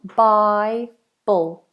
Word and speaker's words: Bible: The diphthong, Bible, dark L. Bible. And that L, again, like I said before, is the tip of the tongue on the roof of the mouth. Bible, Bible, Bible.